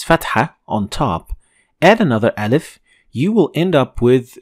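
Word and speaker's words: آل: So you're going to pronounce alif, but a little bit longer than usual. So al, al.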